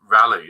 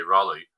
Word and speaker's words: Raleigh: I bounced through Seattle down to Rally or I should say Raleigh because I keep kept on getting tall I was saying it wrong and spend a bit